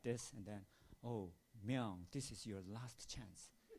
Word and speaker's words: Myung: And Barbara Jordan, she pronounced my name like Mung, not Myung.